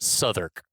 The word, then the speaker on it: Southwark: Southwark, which is Suffolk. spelled Southwark, but pronounced Southwark.